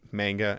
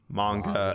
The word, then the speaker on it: manga: I grew up, saying manga and anime, and then I found out that it's technically pronounced manga and anime. And I'm like, well, screw you guys, because here it's manga and anime.